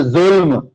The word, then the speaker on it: ظلم: یہ جو 3 حروف کا لفظ ہے نا, جیسے ظلم, ظا لام میم, نوٹ کر لیں یہ بات, ظلم, اس طرح کے